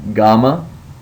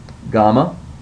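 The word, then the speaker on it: gamma: letter is GMA and it is pronounced like the G and gone so it makes a g sound so say that GMA GMA your next letter is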